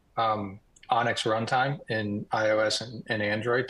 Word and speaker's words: ONNX: But any model that can be converted to an Onyx, ONNX is how you spell it.